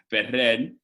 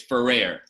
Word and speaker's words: Ferrer: name ferrer or federer latino is fed red um if your anglo is ferrer all right i i